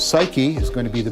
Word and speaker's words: psyche: the lodestone has success this word suke which we now pronounce psyche is going to be